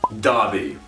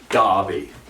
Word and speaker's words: Derby: the east midlands and it's pronounced darby you see this derby thing this is not america the e becomes a and the r goes silent as with most british ways of saying in spoken english the r is like an darby aberystwyth it's like there's